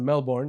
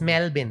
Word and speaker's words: Melbourne: I used to always pronounce it Melbourne until I went there. I was like, yo, shut the hell up. He was It's corrected. Melbourne. It's Melbourne. Exactly.